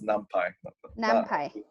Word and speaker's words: NumPy: i've heard it no i the way it's pronounced is numpy yeah okay so i think we did cover